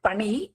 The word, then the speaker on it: பனி: It is not pani, it is pani. Pani. Pronunciation should be soft. Pani, that ni.